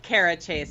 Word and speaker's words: Cara Chace: show I'm sorry I don't know if I pronounced your name in the right way actually Kara you did it's k12 Kara chase I answered about it because yes kara chase